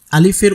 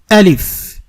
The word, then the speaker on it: আলিফ: আস্তে আস্তে শিখবো তো আলিফের উচ্চারণ কখনোই সরে দেয়া হয় না এটার উচ্চারণ হবে আলিফ শুরুটা হবে শক্ত করে আলিফ আলিফ এটার মধ্যে কোন টান নেই আলিফ বলে কোন টান